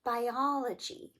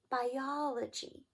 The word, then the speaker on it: biology: For example, the next word, biology, biology biology, stress on "o," good.